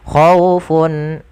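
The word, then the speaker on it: خَوْفٌ: Ada pada lafal khawfun ada tanwin bertemu dengan ain, maka kita hukumi dengan bacaan izhar halqi, yaitu adanya tanwin un bertemu dengan ain, yang dimana ain termasuk huruf izhar, maka suaranya harus dijelaskan, tidak boleh ada penahanan di dalamnya.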